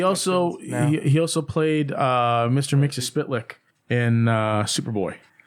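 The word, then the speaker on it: Mxyzptlk: Mixie-Spitlick in Superboy. Is it Mixoplex? No, it's Mixie-Spitlick.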